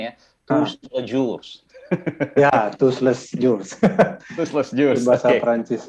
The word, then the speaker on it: Tous-les-Jours: Iya, Pak Budiman ini dari, saya mohon maaf ya kalau saya salah bacanya ya, Tous-les-Jours.